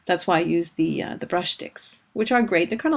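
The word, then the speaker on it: Brushstix: It's spelled BRUSHTIC. That's why I say brush sticks.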